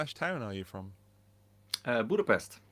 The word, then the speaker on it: Budapest: Budapest. Budapest. Budapest. It's. I like It's your more chilled, your and you accent. say a sh instead of a s a Yeah.